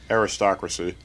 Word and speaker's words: aristocracy: Yeah, because it's not aristocrat. It's the wrist has the emphasis.